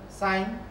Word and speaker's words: sin: Sine is abbreviated as S-I-N, but you still pronounce it as sine.